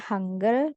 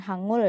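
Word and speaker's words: 한글: aksaranya aksara ya itu disebut hangle jadi bacanya hangle bukan Hangul ya oke hanggle nah untuk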